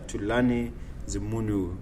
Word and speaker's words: Thulani Zimunhu: none other than the bearded Craftsman himself Mr tulani the munu am I pronouncing it correctly that is perfect thank you